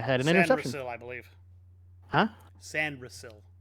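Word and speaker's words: Sainristil: Anil I believe huh San ril not sand Rell sand Rell a close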